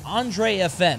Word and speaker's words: AndresFN: So for him to drop a set to a guy named AndresFN, I think that's how you said it. I think the S is silent.